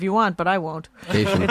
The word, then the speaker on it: Kashian: Kashian. It's just cation, like vacation.